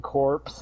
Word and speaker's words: Corps: Some people, Green Lantern's their favorite superhero, and they call it the Green Lantern Corps. It's ass. It's like, what the fuck? The S is silent, like the Marine Corps.